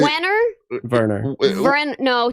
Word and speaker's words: Wernher: It's a WERNHER. Wiener von Braun. That's right. Werner. Yeah. Wenner. It's Werner.